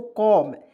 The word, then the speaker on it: comb: ठीक है ना, तो यहाँ पे देखिए सी से क होता है, क लिखते हैं। देखिए सी से होता है क, ओ से औ, यहाँ पे औ का प्रयोग करते हैं। ठीक है, एम से म लिखेंगे, तो क्या हो जाए दोस्तों, कॉम।